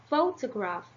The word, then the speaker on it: photograph: one the first um the primary stress is on the first syllable and the secondary stress is on the third syllables or or the last